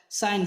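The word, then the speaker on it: sign: तो आप सते डिजाइन एन से पहले जी है इसलिए जी साइलेंट है नेट नेट माने पिशु डिजाइन डिजाइन त्याग पत्र साइन साइन माने चिन्ह एच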